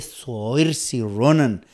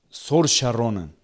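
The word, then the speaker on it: Saoirse Ronan: está es así también me dicen no se dice subirse y ronan éste porque corregí me habían corregido varias veces y ahora éste me dicen que se pronuncia soria ronald héroe de la leyenda me dijo soria ronan forzaron a usted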